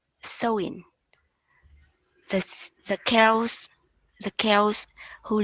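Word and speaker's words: Samhain: chaotic a festival or seven pronounced sowing the tails the girls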